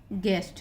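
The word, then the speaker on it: guest: जी यू ई एस टी गेस्ट, यहाँ पे you silent हुआ और ई का उच्चारण हुआ, इसलिए इसको ए बोल रहे हैं हम, गेस्ट, गैस।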